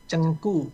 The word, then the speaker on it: Zheng Gu: Cengku. Oh bukan ceng tapi ceng. G itu dibacanya ku, K. Jadi bukan ceng tapi cengku ya.